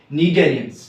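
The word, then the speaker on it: Cnidaria: Phylum नीडेरियंस, phylum नीडेरियंस, CNIDA, ठीक है, इस तरह मतलब यहां पे C साइलेंट है, नीडेरियंस, ठीक है।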